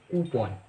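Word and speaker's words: coupon: अगला शब्द है, उसकी राइट प्रोनाउंसिएशन है कूपन।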